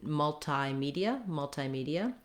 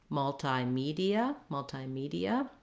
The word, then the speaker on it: multimedia: If I were to change in multimedia, I still don't want to stress this syllable. It's still long, short, short. Multimedia. It's just that I'm using the I diphthong instead of the E. So either multimedia or multimedia. Your stress is still going to be on the me syllable that has the tense E sound, and then you have an unstressed ia at the end, ia.